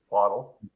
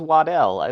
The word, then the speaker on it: Waddle: really sold on him how do you say jalen's last name waddle waddle like a i always thought it was waddell they always said it